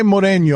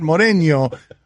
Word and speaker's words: Mourinho: Is that Mourinho? No, there you're putting an E there. It's Mourinho.